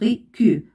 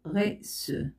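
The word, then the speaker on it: garçon: وهناك غي سو هنا إذا لم أضع سيديل ستنطق غي كو ولكن عندما سأضع هذه العلامة ستنطق غي سو أتمنى أنكم فهمتم الدرس جيدا سنتقل إلى الإجابة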